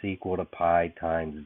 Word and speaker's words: pi: you pronounce it is pi you you pronounce it just like the uh dessert that we most of us like but it's actually a